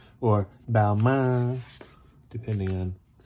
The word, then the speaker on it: Balmain: Balmain. Or Balmain, depending on how stringent you are with the pronunciation.